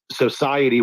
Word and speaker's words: Xociety: So that's one to watch on Sui, as well as Society, which is spelled XOCIETY. Society.